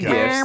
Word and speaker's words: GIF: How do you pronounce it? I say GIF. I've always said GIF. The correct answer is GIF.